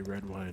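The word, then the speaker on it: Redwyne: too uh it's nice to see you learn red wine yes agrees it's good to see everyone as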